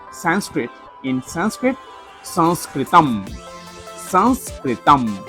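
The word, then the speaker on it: संस्कृतम्: pronounce Sanskrit in Sanskrit, Sanskritam. Sanskritam. Say with me, San, like a nasal sound. San, Sanskritam. Welcome to this Sanskritam story time.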